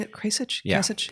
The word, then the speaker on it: Kasich: Am I pronouncing it Kasich? Yeah, Kasich? Kasich.